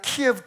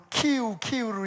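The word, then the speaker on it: 키이우: 여러분 아시다시피 그 키우라고 해서, 저는 옛날에 이제 선교 다닐 때는 키예브 그랬는데 그게 그 러시아 발음이라 해가지고 그 우크라이나 발음으로 키우로 이름을 이제 바꿨는데 거길 계속 때려대잖아요.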